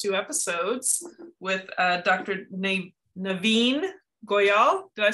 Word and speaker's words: Navin Goyal: most amazing last two episodes with uh dr naveen goyal did i say it right you did say